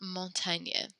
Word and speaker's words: montagne: And la montagne, that is mountains. The G-N-E kind of thing at the end does that ñ sound.